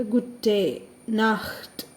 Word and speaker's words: Gute Nacht: ഇനി രാത്രി, ഇത്രയും നേരം ഗുറ്റൻ ഗുറ്റൻ ഗുറ്റൻ എന്നായിരുന്നേ. രാത്രിക്ക് മാത്രം ചെറിയ ഡിഫറൻസ് ഉണ്ട്. ഗുറ്റേ നാഹ്റ്റ്, ഗുറ്റേ നാഹ്റ്റ്.